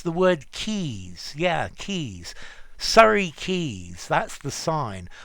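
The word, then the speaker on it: Quays: Well, the pronunciation's easy, but it doesn't bear a lot to do with the spelling.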